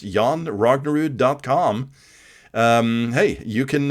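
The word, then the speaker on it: Jon Rognerud: j n r o n r UD it's pronounced yon rognerud decom um hey you can uh you can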